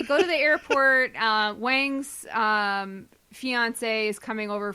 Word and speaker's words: Wang: he plays his friend his friend's name is Wong don't don't play with me oh okay his name is pronounced Wang oh although okay I know people whose name